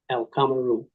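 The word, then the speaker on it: القمر: So you have al, that's the key. You see a sun letter, you pronounce al. And a lot of times when people are reading, and they only do it every now and then, they get a little lazy. They say or ah. No, pronounce al. Al. Always get the al.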